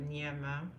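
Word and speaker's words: Gnama: it has my name it's called nma and then in bracket which is easier to pronounce but this is my my name g n a m a g n a m a n it's African it come from West Africa SGA the G is not silent it's a French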